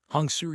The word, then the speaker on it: Hun: Hungs was the heroine of this ark. Also, the hun is pronounced as the hun in honey.